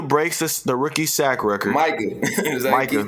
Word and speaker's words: Micah: if Mika breaks the rookie sack record, Micah.